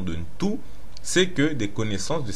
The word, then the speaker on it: Ntu: La racine de Muntu est Ntu, N-T-U, qu'on peut aussi prononcer Tu.